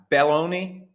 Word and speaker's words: Belloni: I'm always sensitive to the proper pronunciation of Italian names because mine gets butchered from time to time, but it's Belloni, Belloni, Gorlami, regardless.